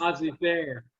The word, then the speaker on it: laissez-faire: Laissez-faire.